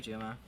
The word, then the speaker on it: Juma: Okay, it says Juma. Okay. Anyway. So book 1 is focused on Tyler Tyrion. Book 2 is focused on Joy Juma.